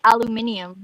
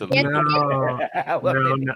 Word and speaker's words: aluminum: It's like aluminium, you know. Aluminium. That's not the prop. It's aluminum. That's not how it's spelled. Come on. It's oregano and aluminum.